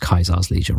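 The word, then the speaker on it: Caesar's Legion: It is in in the games it's pronounced Kaizar's Legion, right?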